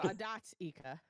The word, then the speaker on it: Adatika: So, Adatika. Yeah, we we've basically been silencing that T and we need to stop that.